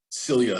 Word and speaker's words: Cilia: Okay, joined now by sophomore center Cilia. Am I pronouncing it correctly? Yes.